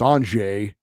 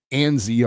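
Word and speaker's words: Anže: his name pronounced incorrectly I know he's got a z in his first name but it's not pronounced that way we all know it's anj not ANZ or anzi which uh kind of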